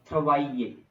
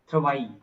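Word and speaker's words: travail: clear थवाइ थवाई थवाई actually here L is silent थवाई because it means work समवर् and when you right थ ए सो जब to vowels and you know double L between two vowels it's basically silent is also a rule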